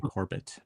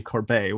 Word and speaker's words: Corbet: Director Brady Corb Corb I think I've been saying Corbett for a little bit Brady Corbet won um I think he